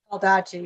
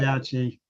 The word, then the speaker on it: Baldacci: And therefore, Rich Baldacci, or I'm not sure how to say it. Baldacci, yeah, you had it right. Baldacci, thank you, stated that